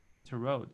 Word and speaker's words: tarot: Tarot or tarot or I think English-speaking people say tarot, tarot. Okay. So but how did the that? T in the end is silent, so they say just tarot.